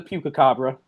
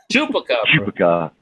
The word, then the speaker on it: chupacabra: Yeah, Dan Weirdo had to spell it out for you. Is that what you saw? No, Chupacabra. I am the Pukacabra. Chupacabra.